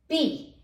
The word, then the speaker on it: Pe: पी, English में पी है, बस इसमें थोड़ा सा अंतर है, पे, इसको पे बोलते हैं।